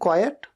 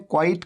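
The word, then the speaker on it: quiet: और हमेशा ध्यान रखें इसे कैसे प्रोनाउंस किया जाता है कई लोग गलती करते हैं क्विट का देते हैं क्विट नहीं ये है इसी तरह से सेंटेंस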